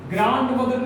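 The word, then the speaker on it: grandmother: ग्रैंड मदर नहीं होता है, वैसे डी साइलेंट होता है तो ग्रैंड मदर पढ़ते हैं।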